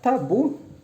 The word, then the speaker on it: tabu: Quando eu pronuncio a palavra, o bus é pronunciado mais forte, tá?